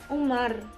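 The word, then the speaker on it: عمر: Amru ada Wow punya jadi bacanya Amru Kalau tidak ada wownya Hai bacanya Umar istri itu memang Alif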